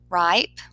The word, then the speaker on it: ripe: er ending for example ripe you can see that it has a long eye vowel sound because it's a vowel consonant e which makes it have a long vowel sound so on this word